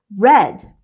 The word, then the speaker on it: read: The correct answer is read. They're spelled the same, but they are pronounced differently.